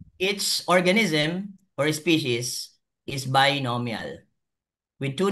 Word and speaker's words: species: Always species, singular or plural. It's always spelled out and pronounced with an s.